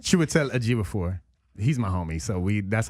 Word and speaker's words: Chiwetel Ejiofor: Chiwetel Ejiofor. Chiwetel Ejiofor.